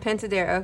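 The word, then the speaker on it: Pintadera: How do you pronounce Fran it? Pentadera. Pentadera, okay.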